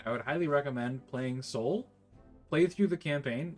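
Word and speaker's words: SOVL: Um yeah, it anyone who's who's playing any kind of um uh Warhammer Fantasy Battles campaign, I would highly recommend playing Soul, play through the campaign.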